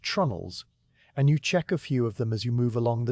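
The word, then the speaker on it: treenail: The wooden pins that hold the deck planks to the beams below are called tree nails, pronounced trunnels.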